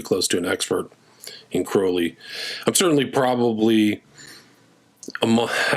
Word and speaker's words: Crowley: So, I think it's really Crowley. That's the way he would pronounce it.